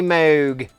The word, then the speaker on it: Moog: They got them on the eBay there from a mini Moog. I know it's pronounced Moog, but right now I'm gonna pronounce it Moog.